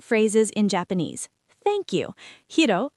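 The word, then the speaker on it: はい: I'll ask Hiro some yes-no questions.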